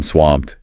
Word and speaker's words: swamped: Yeah, the T sound at the end of swamped is usually soft, almost unreleased in natural speech, not a hard T.